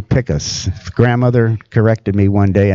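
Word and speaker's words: Pickos: Of course, a lot of people pronounce it Picos Picos, but it's actually Picas.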